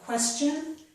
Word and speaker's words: question: Here is one exception, the word question. This does not make the sh sound. Instead, TI here makes the ch sound.